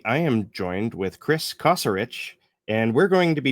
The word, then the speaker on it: Kosarich: Um it's can be pronounced Caserich or Casarich, which is how I pronounce it, but either way is fine.